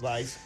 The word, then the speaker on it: Weiss: Sí, no, Eric Weiss se llamaba, Weiss, W-E-I-S-S, pero creo que la pronunciación es Weiss. Vice.